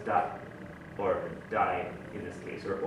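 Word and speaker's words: 大: In Chinese it's da, but anyway, in Japanese it's either dai or o. So in this case it's daisuki, right?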